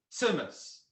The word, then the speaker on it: tzimmes: pizza it's like the like the z from pizza so it's simmons just like semes got it okay venice